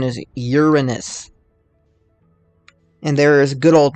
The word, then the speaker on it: Uranus: I know a lot of people like calling it Uranus for obvious reasons, but the correct pronunciation is Uranus.